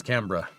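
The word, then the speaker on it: Canberra: I think it's pronounced Cannber. Every time I call it Camber or Rosebud, somebody says it's Cambra.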